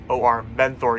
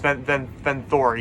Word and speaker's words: Venthor: And Venthar is spelled V-A-N-T-H-O-R, Venthor you call him. But it's Venthor, yeah. So Jor's father, Din, was